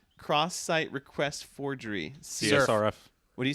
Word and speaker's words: CSRF: learned from reading, and CSRF is always going to be CSRF to me, but I will catch myself saying surf. as a not necessarily a surfboard, but literally a hard C or a softish C.